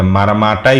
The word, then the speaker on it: ম্রামা: মূলরূপে ম্রাংমা থেকে এন বাদ পড়ে মারাম্মা হয়েছে। কিন্তু এটাও ভুল ধরা হচ্ছে। সঠিকটা হল ম্রামা।